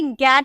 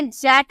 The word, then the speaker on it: get: तो ये आपको याद रखना होगा कि गेट, हम इसे जेट नहीं गेट ही बोलते हैं।